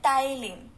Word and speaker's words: ptyalin: So this salivary amylase is also known as ptyalin. P is silent here, it is called ptyalin. Y is also silent, ptyalin, ठीक है.